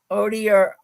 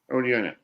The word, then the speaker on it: Odierna: Odierna. Odierna.